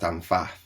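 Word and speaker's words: Pfaff: And if you look at a guy called, it's Dan, I think it's pronounced Dan Faff.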